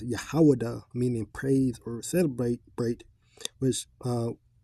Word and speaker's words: Yahawah: back to, comes from the Hebrew name Yahuwah, which is Yahawah, right? The correct pronunciation is Yahawah, meaning praise or celebrate,